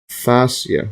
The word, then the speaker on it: fascia: or rib cage and associated skin, muscle, and fascia. See the pronunciation here?